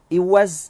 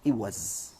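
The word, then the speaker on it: إوز: Orang panggil iwaz. Ya, iwaz, bukan iwaz. Iwaz. Syaddah pada zaid.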